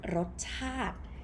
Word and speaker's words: รสชาติ: It comes from the word รสชาติ รสชาติ ชาติ not ชาติ This one สระอิ sound obsolete, so you pronounce it รสชาติ means taste or to taste.